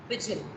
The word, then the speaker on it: pigeon: That's the incorrect pronunciation. Pigeon.